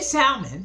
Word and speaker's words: salmon: this is the S salmon not Li again the L is silent don't say salmon it's salmon okay I want two cans